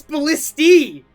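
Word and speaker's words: ballistae: up wait all right this is going to pronounce it for us ballisti it's ballisty what we're both right English is a really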